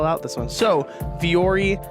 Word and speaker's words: Vuori: So Fiore, it's spelled V-U-O-R-I.